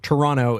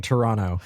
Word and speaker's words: Toronto: And I pronounce the T's. Toronto is playing Toronto, and I don't want to lose any of my cred.